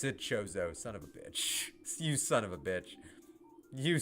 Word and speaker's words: Chozo: New Chozo lore. Hey Pat, how did you pronounce it?